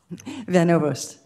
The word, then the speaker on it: Van Ovost: Van Overst. Okay, I'm sorry, we don't pronounce that often from Oklahoma.